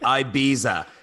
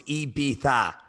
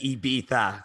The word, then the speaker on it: Ibiza: Is it Ibiza with like Yeah. a TH? Yeah. So I said it wrong for so many years. I was like Ibiza, or like Yeah. that is completely wrong. So it's Ibiza. Okay. Like Ibiza. Yeah. So like EB for like a bumblebee, and then tha.